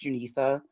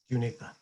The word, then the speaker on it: Junitha: This is admin interjecting just for 1 second, so you all know that her name is pronounced Junitha, so that we can get that right moving forward. Junitha.